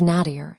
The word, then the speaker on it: nadir: Think of nadir as the opposite of peak. It rhymes with radar if you say it quickly.